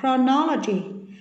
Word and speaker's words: chronology: Nào, đọc là K nhá. Chronology. Âm tiết số 2, chronology.